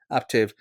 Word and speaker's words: Aptiv: Right now, you're working at a company called Aptiv. Is that how you pronounce it? Yeah, Aptiv.